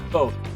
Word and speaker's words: Foth: the way it's pronounced both and it rhymes with growth nice our